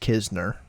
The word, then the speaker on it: Kizner: It's spelled KN like Kisner, but it's just Kizner.